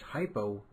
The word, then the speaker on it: hypo: An easy way to remember this is hypo rhymes with low.